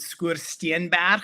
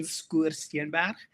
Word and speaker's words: Skoorsteenberg: That's the Tankwa Karoo, in a place called Skoorsteenberg, which is the correct South African pronunciation, Skoorsteenberg.